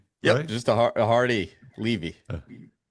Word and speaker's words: Levy: Levy. Levy. Just a a hardy. Levy. Well, I mispronounced your name and you just told me